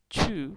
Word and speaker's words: 去: Chew, when you pronounce chew, you have to pull out the air out of your mouth and it means to go.